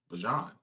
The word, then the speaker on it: Bijan: had been calling him Bijan since he got in the league. Yeah, it's this past offseason, he came out and said it's actually pronounced Bajan.